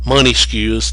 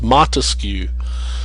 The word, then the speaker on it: Montesquieu: it's not academic think of monta as money money skews they mispronounce it grossly money skew and they think